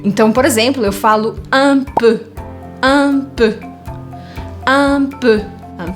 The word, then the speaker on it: un peu: Então, por exemplo, eu falo un peu. Un peu. Un peu. Un peu, que eu escrevo P-E-U, eu pronuncio E.